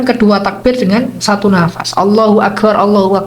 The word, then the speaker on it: Allahu Akbar: Allahu Akbar itu diucapkan satu nafas. Wa yaftahu ar-ra fil awal, jadi mengucapkan ra yang pertama Allahu Akbar, jadi itu ra-nya di fathah, yang di akhir wa